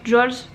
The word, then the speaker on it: Joolz: Attention, ça se prononce Jules, je sais jamais, mais en tous les cas je sais prononcer Géo.